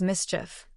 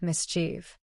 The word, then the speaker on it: mischief: Remember a mischievous person causes mischief not mischief.